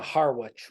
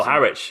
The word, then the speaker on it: Harwich: So I went to Harwich, which I'm pronouncing. Oh, Harwich.